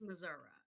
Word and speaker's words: Missouri: It's actually pronounced Missouri.